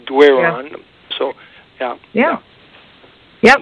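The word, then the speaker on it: Doiron: Well, yeah, see, Dorian is a French name, and it's spelled D-O-R-I-O-N, and my name is D-O-I-R-O-N, so the way it's spelled, most people call us Dorian, but it's actually Dwayron.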